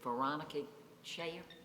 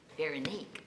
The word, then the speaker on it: Veronique: This is it Veronica Shayer? Thank you. What a pretty name, and I said it wrong. Veronique.